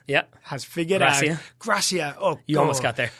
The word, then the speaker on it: Gracia: coach that came in Harvey not Garcia Gracia yes not Garcia Chris yeah he came in